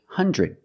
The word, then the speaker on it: hundred: two pronunciations one is 100 the Dr together makes the JJJ sound like juice and jump JJ put it together